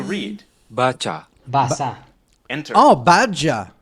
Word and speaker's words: baca: Oh, badja. Why do you pronounce like a J? Yeah. A J? Other basic verbs to read, Baca. Badja. Badja. Not baka.